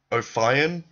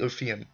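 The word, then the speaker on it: Ophion: I see a lot of people pronouncing it Oion. Why do you pronounce it Oion? It's not Oian. It's obviously O of anyway.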